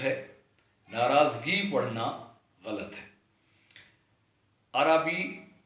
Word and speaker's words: عربی: ناراضگی پڑھنا غلط ہے۔ عربی درست تلفظ ہے، عربی پڑھنا غلط ہے۔ یعنی عموماً پڑھے لکھے لوگ بھی عربی پڑھتے ہیں اس لفظ کو، حالانکہ عربی رے پر بھی زبر ادا کرنی ہے۔ ایسے ہی ادبی